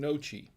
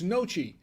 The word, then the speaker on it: gnocchi: nashi or no she it's spelled g-n-o-c-c-h-i now uh she says yep looked it up so i'm guessing nochi yep looked it up so it's noche now see i was